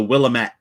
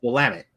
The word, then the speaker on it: Willamette: And you see so many people call it the Willamette. Why do they call it the Willamette? Because it's spelled with 2 L's and 2 T's.